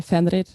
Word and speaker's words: Fenrir: is the sister of Fenris, the Fenris wolf, and some people say Fenrir, and then she's the sister of Midgard's worm.